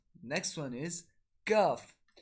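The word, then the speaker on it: ك: Next one is Kaf. So Kaf is pronounced when the back of the tongue touches the palate a little closer to the front. So the method of pronouncing Kaf is when the back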